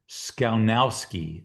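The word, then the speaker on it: Skowneski: Um, so I'm going to go with a guy by the name of Ed, got to pronounce this right, Sconowski.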